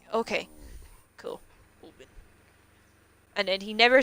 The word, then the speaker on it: Oban: was getting annoyed that people were pronouncing it Oban. It was an Italian guy, actually. He came in and was like, how's it actually pronounced? Because they're all arguing about it, and I know you just told them. And I was like, it's Oban.